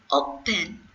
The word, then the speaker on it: open: For example, this verb, open, I have made OP bigger than EN. It means we stress at the first syllable. We have to read open.